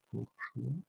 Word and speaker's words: Bourgeois: Acoustic Stage, Dana Bourgeois. That's pronounced correctly. Bourgeois. I would pronounce it like that. Like French pronunciation.